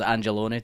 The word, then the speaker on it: Angelone: They kept saying like Vito Corleone. And I guess it's like Angelone, so it's Angelone, definitely.